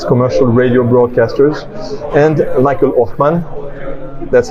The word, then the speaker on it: Oschmann: percent of Australia's commercial radio broadcasters and Michael Othman that's how you pronounce absolutely try to take my German accent